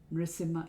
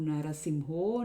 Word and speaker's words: Nṛsiṁha: Again, it's not Narasimho, Nṛsiṁho, Narasimha, Nṛsiṁha, any combination. To remember this, you can use the sequence A, O, O. Ito Nṛsiṁha, parato Nṛsiṁho, yato yato yami tato Nṛsiṁha, bahir Nṛsiṁho, hridaye Nṛsiṁho.